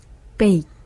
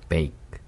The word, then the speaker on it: bake: 그 T 발음처럼 단어 맨 마지막에 올 때는 딱 끊어주는 어...